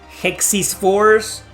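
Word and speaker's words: Hexyz Force: It's called Hexis Force. It is pronounced Hexis Force.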